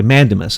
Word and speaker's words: mandamus: I writ of is do you say mandamus is that how you say it yeah okay mandamus I was saying it wrong sorry the writ of